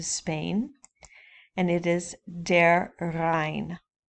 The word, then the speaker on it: Rhein: It goes all the way down into Spain, and it is der Rhein. In English, it's Rhine, R-H-I-N-E, spelled a little different, pronounced almost the same, der Rhein.